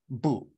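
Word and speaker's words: 不: in in Chinese is this character and it's pronounced boo boo and it means no no and this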